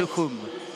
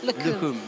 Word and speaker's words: Lukhumi: And I learnt last night from our stadium announcer, Georgie, who happens to be Georgian, yes, that you don't pronounce the I in Lukhumi. Just right. Lukhum. Lukhum, yeah, Lukhum Chukvimiani.